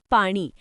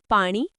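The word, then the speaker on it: पाणी: मराठी में इसे कहते हैं पानी। यहां ण का उच्चारण थोड़ा अलग है। जैसे न और ण के बीच का। कोशिश कीजिए पानी। पानी बहुत अच्छा प्रयास देवेंद्र। ण पर थोड़ा और जोर पानी पानी।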